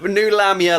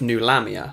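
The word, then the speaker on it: Nulahmia: New Lamia, like new metal.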